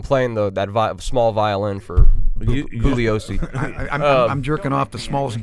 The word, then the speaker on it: Bugliosi: Vincent Bugliosi, asshole, wrote this. I don't think he pronounced the G. I think it was Bugliosi.